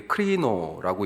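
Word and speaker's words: κρίνω: 헬라 말도 하나 써드렸는데 그게 크리노라고 읽습니다.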